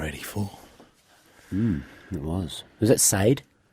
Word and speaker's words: Sade: Was that Sade? Sade, it's pronounced, Lucas.